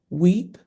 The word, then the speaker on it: WEAP: It is called weep. It's spelled weap is women of excellence, ambition, and purpose.